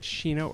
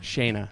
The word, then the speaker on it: Shayna: missing pronouncing your name is it sheena or shayna shayna see i knew it shayna uh is the author